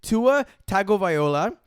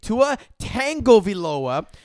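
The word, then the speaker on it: Tagovailoa: of the miami quarterback his name is tua tagoviola tu a tag o v lo a yet you two regularly and continuously mispronounced it at prince pronounced it when you say tua tango viloa there's no tango in his name takes two tango it's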